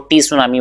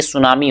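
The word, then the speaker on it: tsunami: बेटा ध्यान रखना है, यहाँ पे टी हमेशा साइलेंट है, तो कभी आप इसको टी सुनामी बोलने लगे तो ये सुनामी होता है, ठीक है, टी साइलेंट रहता है यहाँ पे।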